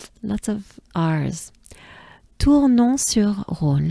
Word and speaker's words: Tournon-sur-Rhône: Let me break it down. So we have Tours, just like the Tour de France, right? Tours, Tours, Tours, and then we have non. Non, which is no in French, right? Non, non. And together they form Tournon, Tournon, right?